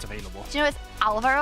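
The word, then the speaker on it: Álvaro: Do you know, with Alvaro, I think the accent is on the A, because usually in Spanish it goes automatically on the second syllable. but it's on the first one.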